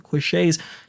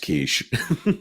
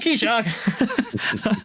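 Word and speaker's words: quiche: the pesto barata is $6 more expensive the quet $10 more expensive the sandwiches an old Che it's it's pronounced kich oh kich I I do apologize the the kich uh $10 more expensive the sandwiches are $5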